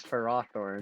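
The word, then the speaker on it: Ferrothorn: to pronounce the name why is it not pharaoh thorn we have ferromagnetic materials i don't tell you it's it that's the official way is for roththorn dude the official way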